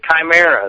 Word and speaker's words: chimera: long time ago that I always say it wrong because I'm from Georgia Chima Chim it's Chimera that's right yeah what what